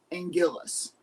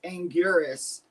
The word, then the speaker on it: Anguirus: So, I used to love the pronunciation of Angillis. Um, that's what I grew up knowing him as. But when Toho officially came out and was like, "No, it's Angurus."